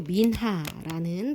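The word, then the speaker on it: מנחה: 이 소제는요, 히브리어로 민하라는 발음이 나는 단어인데요.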